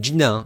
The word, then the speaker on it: Gina Carano: Alors ça se prononce bien Gina et pas Gina. Avant je pensais que G et I c'était GU en anglais.